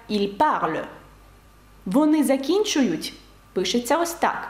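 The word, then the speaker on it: ils parlent: Тобто, щоб сказати «вони розмовляють», французькою це пишеться ось так і вимовляється як «il parle».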